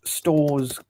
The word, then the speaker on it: Storrs: Let me I want to search stores Connecticut. Yeah. So what is it? Yeah, so stores Connecticut is spelled Storrs.